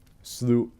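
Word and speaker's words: slough: but it happens sometimes slew oh yeah it's slew off isn't it well slew off and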